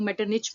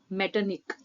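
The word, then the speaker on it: Metternich: मेटरनिक ने कहा था। कुछ लोग मेटरनिच भी बोलते हैं, बट the correct pronunciation is मेटरनिक।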